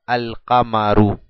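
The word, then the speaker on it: القمر: qaf, kamarun, abajo kamarun, más el artículo alef lam, es igual a al-kamaru, al-kamaru. Puedo pronunciar el alef y el lam, y al final le dejo una sola dhamma en señal de la determinación.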